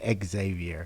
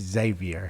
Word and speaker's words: Xavier: Um, he gave me a history lesson in that cuz I was saying exavior. Sure. And it's Xavier. Yeah. You say it like a Z.